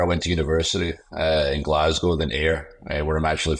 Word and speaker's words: Glasgow: But in America, they call it Glasgow. And you're from Glasgow? There's no Glasgows, mate. It's Glasgow. Ready, steady, go. Say it right.